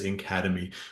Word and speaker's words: NCADEMI: NC a d m which we will pronounce as Academy we're really really happy